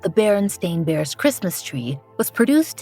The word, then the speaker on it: Berenstain: of this well for many of us the baron Steen bears are the Beloved characters of our youth